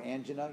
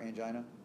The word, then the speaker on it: angina: kind of question so andina or angen you'll hear it pronounced both ways versus an MI a heart attack anyone ever heard of angena or angina it's not very commonly